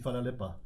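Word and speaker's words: hvala lepa: Je vais essayer du moins comment ça se prononce. Mais merci, vous dites Fala Lepa.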